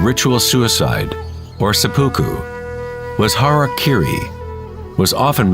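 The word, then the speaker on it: hara-kiri: one form of ritual suicide or seppuku was harak Kiri was often mispronounced as Harry KY it means to impale one's horor thereby cutting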